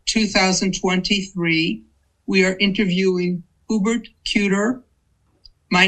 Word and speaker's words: Kueter: My name is Hubert Kuter. And could you please spell it for us?